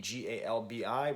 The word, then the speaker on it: galbi: weapon, and like B as opposed to calbi, Galbi, which is how you say the short ribs.